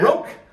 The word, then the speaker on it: Roque: Roque.